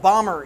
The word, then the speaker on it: Bomber: flying in I think Kevin bomber is the appropriate way to say his last name it's not boomer there's 100 bomber so